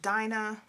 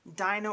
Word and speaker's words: Dinah: family from famine okay dinah ordina i think her name in hebrew is pronounced dina but she is in